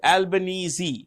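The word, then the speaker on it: Albanese: can see here and um Anthony albanesi is albanesi that's how you pronounce it Anthony albanesi is a president sorry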